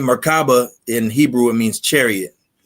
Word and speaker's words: Merkabah: How you pronounce it? Merkabah. Yeah. Merkabah.